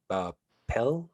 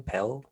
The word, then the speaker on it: Pelle: Signed, Pell. Is that how you pronounce his name? Pelle. Pelle. Yeah. Yeah, Pelle. He was Swedish.